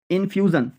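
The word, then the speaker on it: infusion: এখানে জন উচ্চারণ হবে, জন, কলিজন। ইনফিউশন, ইনফিউশন, ইনফিউশন।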